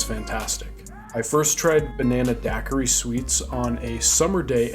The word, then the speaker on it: daiquiri: Sweets at the time I had no idea what Daiquiri meant and we actually mispronounced it as dakiri he told me they